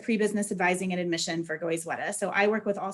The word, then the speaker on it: Goizueta: new york would say sweater so goyzweta is how you say it so hopefully that resonates